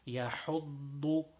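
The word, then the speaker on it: يحض: Yahuddu, and make sure that the dod is pronounced full mouth because it is always full mouth.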